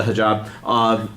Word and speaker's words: hijab: go with the faith justifications for wearing the hijab. Am I saying it right? Yeah. The hijab.